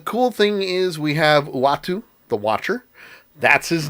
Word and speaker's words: Uatu: you say it again watu uatu okay uh i was calling him atu i was close atum let me just